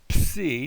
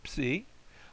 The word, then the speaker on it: psi: But that's the psi. Like our word lips, if that helps you get the sound of it.